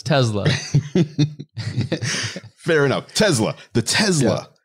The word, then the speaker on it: Tesla: that hard Z Center in there so it's Tesla fair enough Tesla the Tesla cyber truck we've